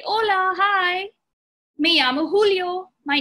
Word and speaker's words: Julio: Me llamo Julio. My name is Julio. Now remember what I said about the J? It's pronounced like an H. So it's not Julio. It's Julio.